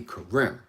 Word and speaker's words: Karim: claim of me and named me karem that's how they decided to pronounce it and since i was always around them that's what kind of stuck through the years that's what just stopped karim as opposed to being raised in kareem right so i'm not